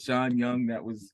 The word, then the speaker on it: Shaun Young: Shaun Young, that's it.